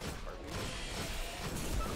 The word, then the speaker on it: Harpies: Herpes instead of Harpies? Yeah, that's like, because it looks like it. Like, I can't be the only one. It looks like Herpes? Like, the way it's spelled. Harpies. Oh. It looks like Herpes, not Harpies.